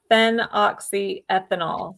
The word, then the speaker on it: phenoxyethanol: And I'll I'll spell it too. So it's it's fen oxyethanol.